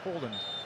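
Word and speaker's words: Haaland: He was asked to pronounce his name for the World Cup authorities and he said, "My name is Erling Holland as his father's was."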